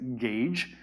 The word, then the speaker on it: gauge: Now, don't let the spelling fool you. The pronunciation is gauge. Just imagine the U is not there.